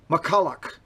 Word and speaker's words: McCulloch: McCullough. Yes, that's what, but who's to say that CH, but I mean, it is McCullough. That's how it's pronounced.